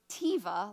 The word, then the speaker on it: teva: But if you read this in Hebrew, it is the word teva, like those teva sandals. I don't know how you would really pronounce it, but T-E-V-A.